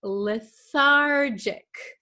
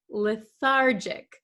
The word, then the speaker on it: lethargic: The next uh word we have is lethargic. Lethargic. Be careful of this G. Uh it is a j sound.